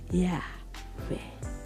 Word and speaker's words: Yahweh: Tetapi itu juga saudara, Yahweh ini adalah saudara tidak ada huruf. Tapi kalau cara bacanya bangsa Israel ada gini. Yahweh.